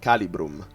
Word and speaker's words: Calibrum: two cause slow spells calibrum so that that is the pronunciation in latin calibrum calibrum deals three damage